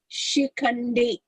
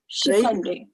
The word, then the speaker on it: शिखण्डी: शिखण्डी. Yeah, it is śikhaṇḍī, right? And not śikhaṇḍī. So you notice the difference? शिखण्डी.